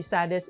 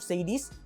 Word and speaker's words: Sades: Yes, you heard it right guys, the correct pronunciation for this brand is actually Sades instead of Sades.